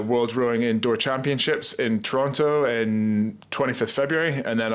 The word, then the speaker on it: Toronto: find it weird saying Toronto as well because I'm half Canadian so the right way to say it is Toronto Toronto you don't say the tea but now I say